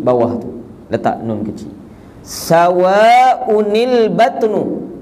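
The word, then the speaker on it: سَوَاءٌ الْبَطْنُ: Sawa'unil batnu, baca gitu. Dapat? Kita tak baca sawaul. Tak, mana boleh bacanya itu sebab hamzah tu tanwin.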